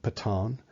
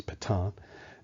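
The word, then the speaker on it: Pétain: the army a guy by the name of Patong that's how it's pronounced ptai n is Patong and he had been the the general at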